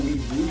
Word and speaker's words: weeaboo: Kata wibu sendiri sebenarnya adalah kata dari bahasa Inggris yang dituliskan sebagai webu atau wibu bacanya, yang memiliki makna orang-orang non-Jepang yang sangat terobsesi dengan kebudayaan Jepang dan seolah-olah hidup di Jepang.